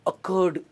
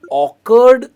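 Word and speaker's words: occurred: इसे हम ऑकर्ड नहीं कहते, इसकी प्रोनाउंसिएशन आती है अ, तो यहां पे अ से शुरू होता है, अकर्ड टू मी एंड नॉट ऑकर्ड, right.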